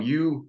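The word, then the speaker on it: uaidh: Said like the letter Y.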